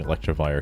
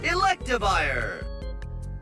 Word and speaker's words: Electivire: I'm sure I'm pronouncing electrifier correctly. Surely. Electivire. Okay. There's no R, but yeah.